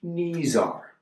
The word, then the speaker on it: Neezar: again say it again it's pronounced knees are like your knees are here or if you watch